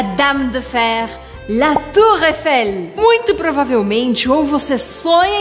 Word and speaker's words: Eiffel: Eiffel não é para você falar Eiffel. Não é para pronunciar esse I. Por quê? Porque EI em francês tem som de E. E. E é por isso que eu vou falar la tour Eiffel. La tour Eiffel. D'accord? Pronunciando bem o L no final.